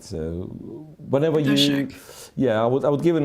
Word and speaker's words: Wojtaszek: Wojtaszek. Radoslav I think, Wojtaszek. yeah, I Okay. think it's sh rather than ch, and I believe both